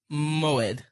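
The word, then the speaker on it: מועד: I think it's pronounced Moed. Oh, yeah. Yeah, okay. Moed.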